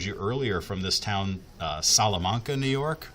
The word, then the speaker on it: Salamanca: This is the one that I showed you earlier from this town, Salamanca, New York, or it might be Salamanca. There's regional pronunciations, like in Texas, we would say Salamanca.